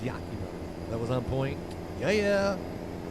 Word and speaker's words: Yakima: Did I say it right that time, Maddie? Yakim Mama Yakima. I didn't like Chucky either. I got rid of all my porcelain dolls thanks to Chucky. I think it was Yakima.